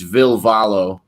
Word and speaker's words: Ville Valo: name is actually will in english but it's ville valo in uh finnish i will follow you pesci